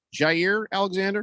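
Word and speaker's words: Jaire Alexander: Jair Alexander? Is that how you pronounce it?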